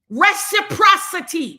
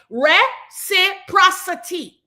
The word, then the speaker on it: reciprocity: You haven't mastered the art of pronunciation or understanding what words mean. You're still in your remedial classes with that. Reciprocity. Say it. Reciprocity.